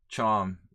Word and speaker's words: Csom: It's a typical Hungarian name, not that typical actually, but the combination of CS is a very, very distinct Hungarian thing, and it's pronounced ch.